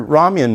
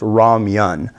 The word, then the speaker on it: ramen: one it has your Raman noodle which is a thick chewier noodle it's not Ramen it's Raman um and it's actually I was told that it should be like Roman or Raman or something like that but anyways